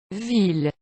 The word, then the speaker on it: ville: common ones that are not pronounced with the Y sound, but the L sound. Ville.